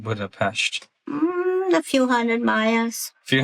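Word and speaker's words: Budapest: And you know, it's interesting because people they mispronounce a lot of times Buddhap Pesh because people will say Buddha Pest and Hungarians It's not pest. It's Pest. It's Pesh. Yeah.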